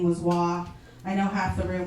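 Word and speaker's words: Hoa: I know like when they announced us and I said my name was Wah, I know half the room was like Wah. How do you spell that?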